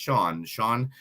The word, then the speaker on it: Sian: You can find them online at Sean Sushi, which is SIAN, but it is pronounced Sean Restaurant.